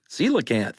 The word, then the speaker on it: coelacanth: this is a colacanth celacanth right well that's what he said at first and she went it's pronounced celacant he's like oh